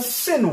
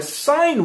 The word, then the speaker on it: sine: Well, this is called a sin wave or a sine wave, depending on how you pronounce it.